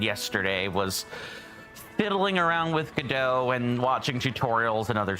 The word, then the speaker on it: Godot: I have downloaded a little piece of software called Godot, and I did look that up. It is pronounced Godot. You could also pronounce it Godot or Godot as well, but I am going